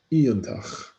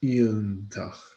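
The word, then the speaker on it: iongantach: So new words in bold, we had iontach. So the G in NG is very often silent in Gaelic, so iontach, iontach. So this NG is silent, iontach, iontach, wonderful.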